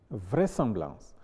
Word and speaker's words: vraisemblance: Il y a donc des exceptions, notamment dans les cas où le S est entouré de voyelles, mais se prononce quand même S. Il s'agit de susurrer, vraisemblance, tournesol, qui sont en fait des mots composés déguisés.